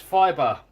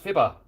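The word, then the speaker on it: Fiba: Someone says it's pronounced fibre. This stuff isn't. This stuff's pronounced fibber. F-I-B-A. Fibber.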